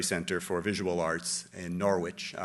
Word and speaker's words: Norwich: of the sainsbury center for visual arts in Norwich Norwich as they pronounce it UK um and George Schwartz who's